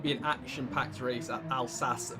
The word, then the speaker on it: Alsace: an action-packed race at al sas village as i've just learned that's how you say it um you've got dr